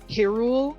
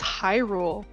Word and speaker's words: Hyrule: like high school because they swore that it was pronounced hyrule and helia and i was like no it's hyrule and hylia get it right oh my god japanese and i like i actually brought up like the japanese kanji and i was like you can see it's pronounced like this and they're like no